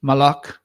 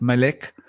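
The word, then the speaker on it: מלך: the word meaning king which is malik or could be pronounced maleik or could be pronounced mo right and because traditionally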